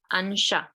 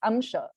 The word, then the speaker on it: amsha: So in Hindi, they say ansha. In Okay. Hindi, a lot of things are kind of let go, right? So ansha, the same sanshaya will also be, samshaya will be also pronounced as sanshay. Sansara, samsara will be pronounced as sansar, right? So that is in Hindi, but not in Sanskrit. Sanskrit rules are there, right? It's amsha.